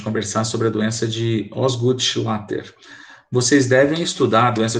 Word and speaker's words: Osgood-Schlatter: bom e se escreve assim a doença de osgood-schlatter é assim que se pronuncia tá hoje eu vou falar com a